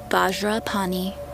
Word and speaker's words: Vajrapani: is how you say the Vajra mantra ohm Vajra pani home ohm vajra pani home um vajrapani hum